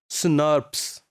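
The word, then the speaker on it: snRNP: These RNA protein complexes are called small nuclear ribbouclear proteins snps or normally they are pronounced as sners.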